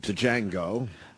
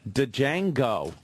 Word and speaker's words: Django: God g speaking of uh Django. Django. I pronounced the D.